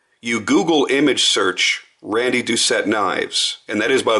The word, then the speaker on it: Doucette: if you look you Google image search Randy duet knives and that is by the way the proper pronunciation of his name it's not duett it's duet and you look at all of